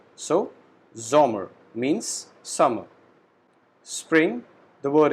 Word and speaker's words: Sommer: Summer, we call it Sommer. Again, S alphabet is pronounced as Z. So, Sommer means summer.